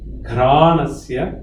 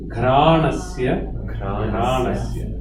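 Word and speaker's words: ghrāṇasya: Ghranasya. GH. Ghranasya.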